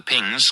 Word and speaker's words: PNGS: Then there was the difficulty with the pings primary guidance and navigation system pronounced pings because sometimes the acronym was informally spelled PNGs in the descent.